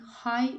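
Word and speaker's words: high: The birds are flying हाई इन द स्काई. हाई में जी जो है ये साइलेंट लेटर है.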